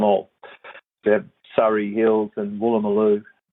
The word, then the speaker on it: Woolloomooloo: Yeah, we've got Woolloomooloo, we've got Woolloomooloo Woolloomooloo, so you know, here's James Schramko